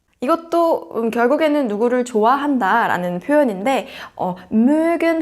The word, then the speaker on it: mögen: 그 다음에 누구누구를 좋아한다 라고 할 때는 mögen 동사를 써서 jemanden mögen. umlaut 발음에 주의해 주셔야겠죠? mögen.